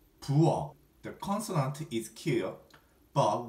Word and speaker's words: 부엌: Kitchen in Korean we say 부엌. 부엌. 부엌. The consonant is 키어, but we pronounce it as 기역.